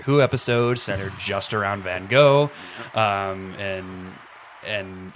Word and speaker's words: Van Gogh: you know everybody knows uh Van Go right or Van Go if you want to pronounce it French correctly um um people who